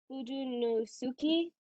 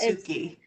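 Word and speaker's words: Fudenosuke: it's Fudunosuke, I think is how it's pronounced. Fudonosuke.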